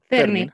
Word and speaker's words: Fernie: Ferni, ¿puedo pronunciar tu nombre así o es Fernie? Fernie.